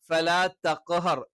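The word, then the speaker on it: تَقْهَرْ: اليتيم فلا تقهر تقهر അത് തേ ആയി പോകാൻ പാടില്ല فأما اليتيم فلا تقهر وأما السائل فلا تنهر തെൻഹർ ആയി പോകാൻ പാടില്ല തേ എന്നുള്ള ഉച്ചാരണവും എന്താണ് അറബിയിൽ ഇല്ലാത്തതാണ് അപ്പോ ഫലാ തഖ്ഹർ ത എന്ന് തന്നെ വേണം وأما السائل فلا تنهر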